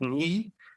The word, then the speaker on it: Nhi: And I actually said it right on the podcast because it's NHI, so it's Nee. And she introduced herself as Nee.